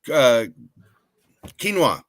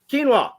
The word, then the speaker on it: quinoa: not rice but starts with the Q oh quinoa quinoa that was it quinoa so we actually found